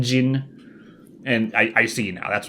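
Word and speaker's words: jinn: But now I realize it's because gin, the drink, and gin, the alternate pronunciation for genie. I think it's the more correct pronunciation, gin.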